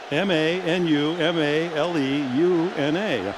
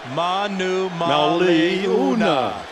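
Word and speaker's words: Manumaleuna: veteran out of Arizona who is not Brandon Monomoy Liotta every vowel is pronounced and a great run this ma Numa le u na Manu Mali una berry didn't know that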